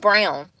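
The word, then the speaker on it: Braun: r a u n it's pronounced brown but he work he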